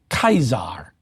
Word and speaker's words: Caesar: caesar was in fact pronounced in roman latin as kaisar and of course you can now hear it as the german kaiser but it's also borrowed